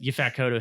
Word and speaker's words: Yaphet Kotto: I read a quote that Yaphet Kotto hated that as well.